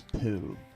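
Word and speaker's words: ぷ: But if it has a circle over it, it's actually pronounced I think that one's poo.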